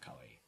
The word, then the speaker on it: kawaii: We're criticizing kawaii, not you. Okay, great. So, You are kawaii, Alek. What's the my pronunciation?